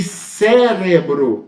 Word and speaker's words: cérebro: as palavras polissílabas correto e Cérebro eu tenho a antepenúltima sílaba a antepenúltima sílaba tônica mais forte cérebro hábito quando isso